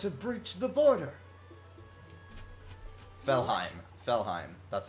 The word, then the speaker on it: Felheim: Felheim. That's how it's pronounced.